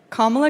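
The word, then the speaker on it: Kamala: do you pronounce it first you say comma like a comma in a sentence then you say la like la la la la la put it together and it's 1 2 3 comma all right so let's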